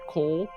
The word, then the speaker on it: kool: It uses what I would call a white coal. But White coal. So Yeah, I don't know apparently, how to translate the it. Dutch word for is Cabbage. Kool, which is pronounced Yes. coal, Yes.